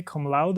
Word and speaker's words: cum laude: How do you say cum laude or what's that?